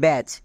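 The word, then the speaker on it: badge: শব্দের শেষে যদি বর্গীয় জ থাকে তখন তার জন্য ডিজিই ইউজ করব, চয়ের মতো। যেমন দেখো ব্যাচ, এই শব্দের একদম শেষে বর্গীয় জ আছে, তার মানে বর্গীয় জ এর জন্য ডিজিই হবে। এখানে ডি সাইলেন্ট।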